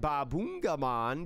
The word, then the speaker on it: Babungamon: how you say it babungamon you have to say if you say this digimon's name chat you have to say baboon you have to say the boon it can't just be